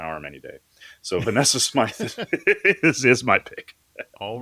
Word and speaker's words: Smythe: I'd say has a warm presence, and for that, my pick is Vanessa Smythe, or Vanessa Smith. I might be pronouncing that wrong. It's Smythe. She famously portrayed Michio on The Expanse.